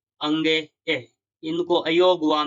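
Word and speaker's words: ङ: के, ख, ग, ग, अंगे। इसको अंगे बोलते हैं। कई छात्र इसको हड़े बोलते हैं तो ये इसका उच्चारण गलत है।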